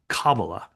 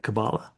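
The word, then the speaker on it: Kabbalah: Um, I hear folks here, stateside saying kabala, the accent on the first syllable, and and I think I'm hearing you say kabala.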